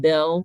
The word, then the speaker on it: Beale: this street is called Beale Street uh people there pronounce it Bill Street kind of in a Southern way but it is a